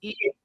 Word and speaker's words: eat: But when Americans say eat, do they actually say that T sound? Yes or no? When English speakers, not just Americans, but when English speakers say eat, do they actually pronounce the T like that? Yes or no? They don't pronounce it like a D. They pronounce it like this. Eat.